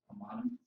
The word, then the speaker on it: homonymy: polysemy and how do you pronounce this? Homonymy.